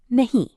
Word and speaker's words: nahi: In Hindi, we say nahi.